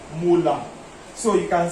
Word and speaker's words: molar: This capital M is pronounced like this, molar.